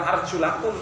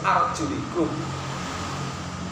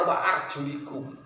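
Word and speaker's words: وَأَرْجُلِكُمْ: Bukan arjulakum, tapi harus arjulikum. Termasuk dari kalangan Syafi'iyah, termasuk kita sampai kemudian yang sampai ke kita qiraah yang sampai ke kita itu adalah qiraah Hafs. Nah, qiraah Hafs ini membacanya wa arjulikum.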